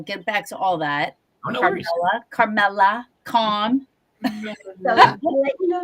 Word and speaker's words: Carmella: Carmela Carmela calm let you know you're the only one that has said it right several times. Chameleon Chameleia I got the other day.